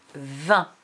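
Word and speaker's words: vingt: que tu te souviennes pourquoi 20 s'écrit G-T muet à la fin. Donc, pour Émir, muet, ça veut dire qu'on ne les dit pas. On dit 20.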